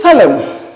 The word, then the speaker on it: solemn: Then the second one is solemn. Solemn. You see in spelling, it ends in letter N, but the N is silent. It is not pronounced.